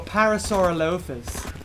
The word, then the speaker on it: Parasaurolophus: It was a bit like Parasaurolophus, or Parasaurolophus, as the Americans say.